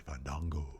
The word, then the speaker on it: Fandango: It's actually Fandango.